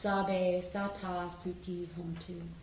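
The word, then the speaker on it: Sabbe Satta Sukhi Hontu: So this chant that's next, number 3, is in Pali, ancient language from North India, and it's pronounced Sabe Sata Sukhi Hontu.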